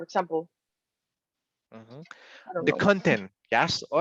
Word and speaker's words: content: So the first one is content, but the second one is content.